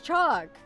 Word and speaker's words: chalk: It's chalk. Chalk. I guess you could say chalk if you want to emphasize the L, but it's just chalk.